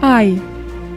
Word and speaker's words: I: I. Un I majuscule, ça a la même prononciation que l'aliment en français, l'ail.